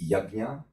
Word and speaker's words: Yajna: And then, demystify, is it Yajna, Yajna, or Yagya? We are actually, we put here that the correct pronunciation is Yajna, but this is all influence of Neo-Indo-Aryan languages into the Sanskrit language.